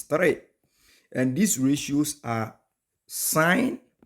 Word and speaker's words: sine: and these ratios are sign it is spelled sin but it's not sign the short form is s i n but it's not sin it's sign so the ratios are